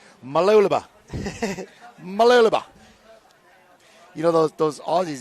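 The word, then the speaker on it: Mooloolaba: 6, it's pronounced Mululaba. Try say it fast. Mululaba. And Vitória Va'a from Brazil in lane 8. Sorry, 7. Malulaba.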